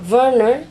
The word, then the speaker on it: Werner: my name and werner in german werner actually it is pronounced silent v for w in germany so